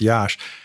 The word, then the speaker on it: Jaszcz: is so unusual and it's spelled j a s zcz that's pronounced Yash you can just go